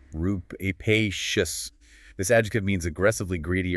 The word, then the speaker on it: rapacious: Yeah, it's pronunciation rupacious.